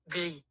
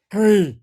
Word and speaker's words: gris: How do you say gray in French? Gris. Oh, it's spelled the same, pronounced different.